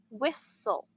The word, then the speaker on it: whistle: It's spelled with a silent H and pronounced whistle.